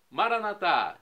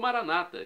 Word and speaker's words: Maranata: E agora eu clamo do aramaico para o português: Maranatá, vinde, Senhor Jesus, como dizemos nós católicos, ou Maranata, como dizem nossos irmãos separados, evangélicos ou protestantes. Não importa a pronúncia, o significado é o mesmo.